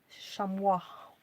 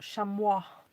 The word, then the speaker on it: chamois: Chamois. I know it's spelt chamois, but it's pronounced chamois.